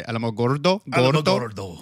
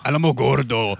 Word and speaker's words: Alamogordo: most so cal way you could have ever pronounced that what do you want me to say alamogordo alamogordo you have to say it like you're about